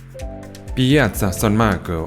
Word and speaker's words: Piazza San Marco: Piazza San Marco, as it's pronounced in Italian, it is the city's main public square and contains its most famous buildings such as St.